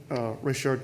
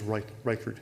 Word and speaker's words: Reichard: I'm always wanting to pronounce it Reichard myself. I may pronounce it that way during this hearing, but I think it is Reichard.